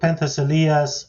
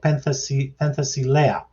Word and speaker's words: Penthesilea: As for Penthesilea's personal life, I keep saying it wrong, Penthesilea. As far as her personal